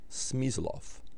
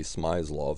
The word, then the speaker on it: Smyslov: to pronounce sm's name is actually vasili smof but again some Americans say smof so we know who we're talking about and uh Banick was